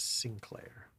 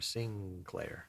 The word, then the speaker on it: Sinclair: So it became Sinclair. Sing with kind of a G in there. Sinclair.